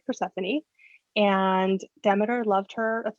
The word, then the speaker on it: Persephone: amateur or demeter persephone i don't think i've ever heard persephone's name first uh pronounced differently versaphone oh yeah okay wrong we're just going to go out and say this that is flat out wrong yeah persephone demeter um